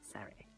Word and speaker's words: Surrey: And yes, you do have to say it like that. It's Surrey.